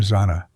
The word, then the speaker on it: Xana: Zanna was a force of nature, an irrepressible spirit who introduced herself with the disarming line, "I'm Zanna," pronounced Xanax without the X.